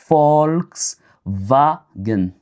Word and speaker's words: Volkswagen: Revenons aussi sur les prononciations comme ici on a Volkswagen, on va prononcer comme Volkswagen parce que W se lit comme V et F et V se lit comme F en fait.